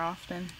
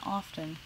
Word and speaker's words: often: this character more often Here I am pronouncing the T and often how many English speakers actually do that or is it more common than I think because most of the time we just say often there you go let's